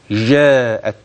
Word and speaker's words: وجاءت: معنا ما يلي واحد حرف الجيم الذي ينطقه كثير من الناس بطريقه غير سليمه والصحيح كما تلقيت وكما تعلمت وجا هكذا جاءت جا هكذا وليست اي جيم اخرى هذا اولا ثانيا حرف